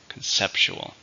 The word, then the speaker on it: conceptual: adjective how many syllables can hear conceptual four with stress on the second syllable conceptual this project is only